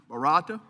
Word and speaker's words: Barata: Barata.